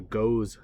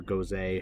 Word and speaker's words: Gose: So the first one I have here is actually a Gose style, okay, or Gose, however you want to pronounce it.